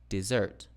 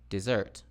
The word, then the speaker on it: dessert: For example, dessert, dessert. Desert, desert. Didum, dum-dee, dum-dee.